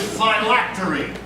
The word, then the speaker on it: phylactery: Park, your word is phylactery. Phylactery. Am I pronouncing that correctly?